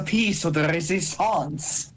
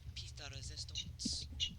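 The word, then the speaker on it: pièce de résistance: It's a piece of the resistance. No, it's pronounced piece de resistance.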